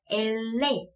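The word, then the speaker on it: ele: L은요, 스페인어로는 엘레. 네, 엘레. 그래서 리을 발음을 그대로 가지고 가서 아주 쉽고요.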